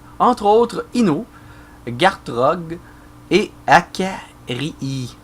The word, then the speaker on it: Akarii: autres Ino, Gartrog et Akarii, et non pas Akarli, comme j'ai scrappé son nom tantôt et que Akarii était pas content du tout. Et je dois pas le prononcer encore comme du monde. Hein, que voulez-vous? Ça s'écrit A-K-R-I-I. Fait que ça doit être Akarii.